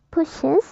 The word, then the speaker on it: pushes: is Nah maka nah dalam pronunciation-nya juga kita harus menyebutkan kata s-nya itu jadi seperti yang tadi saya ucapkan itu pushes bukan push teaches kisses dan fixes